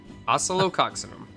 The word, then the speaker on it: Oscillococcinum: Amazing Story of this called oelo coxim Oso coxim that's how you say it it's you've probably